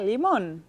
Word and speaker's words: limón: Y como termina en N, lleva un acento en la O.